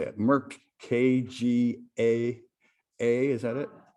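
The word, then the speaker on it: KGaA: Merck KGA, is that it? Kaga, okay, Merck Kaga has collaborated with another European company called Neuroloop to treat inflammatory disorders.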